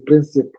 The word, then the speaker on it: principes: stick to better and in French it's princip you stick to your